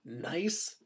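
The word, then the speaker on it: gneiss: are nice and marble again this is pronounced nice now marble rocks you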